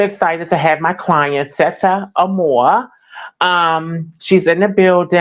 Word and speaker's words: Sette: And it's pronounced set, by the way. Just set. Set. Okay. You know what? I've been saying Mm-hmm. Seta. A lot of people say that, but it's just basically short for Chrisette.